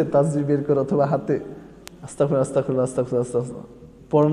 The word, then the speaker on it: আস্তাগফিরুল্লাহ: গতকালকেও একজন আমাকে জিজ্ঞেস করেছে, হুজুর আস্তাগফিরুল্লাহ তো বলে না, আস্তাকুরুল্লাহ বলে। আস্তাকুরুল্লাহ ঠিক নেই, ওই যে মুরব্বী কইতেছে আস্তাকুরুল্লাহ, এবার শব্দই শুদ্ধভাবে উচ্চারণ করতে পারে না, শব্দটাই হইল না। শব্দটা কি আমার সাথে বলেন? আস্তাগফিরুল্লাহ, আস্তাগফিরুল্লাহ, আস্তাগফিরুল্লাহ, আস্তাগফিরুল্লাহ।